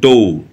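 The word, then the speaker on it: door: ঠিক আছে, সব আর যেখানে আর থাকে লাস্টে সেক্ষেত্রে কিন্তু কখনো আর উচ্চারণ করা হয় না, উচ্চারণের সময় কিন্তু আরটা বাদ থাকবে। ঠিক আছে, সেক্ষেত্রে সেই জন্য বলা হয়েছে ডৌ, পুওর।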